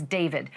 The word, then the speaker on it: D4VD: That fact has got to be hitting home tonight, literally, for the singer known professionally as David, spelled D4VD. I know it's strange, but it's pronounced David.